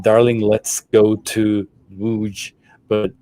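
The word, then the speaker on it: Łódź: It was like, "Darling, let's go to Wuj. But Germans, as they sang the song, it was Wir fahren nach Lodz. So they would pronounce it in a German way.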